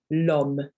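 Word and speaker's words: l'homme: definite article with that you would say lom okay so the l is is almost like the first letter the first sound of the word so you don't you don't leave a gap between the le and the arm it's just meaning man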